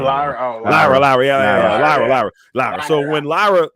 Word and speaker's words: Lyra: Yeah, Laura. I always say her name. Lyra.